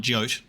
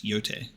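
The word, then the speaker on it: Jote: true name another pseudonym so it's not jyot it's yote um okay we've seen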